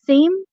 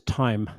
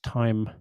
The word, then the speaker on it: thyme: Is that theme? Uh, the pronunciation is time. Oh, really? Yeah. Strange spelling. It's time or theme or something. It's thyme. Yeah, it has th Yeah.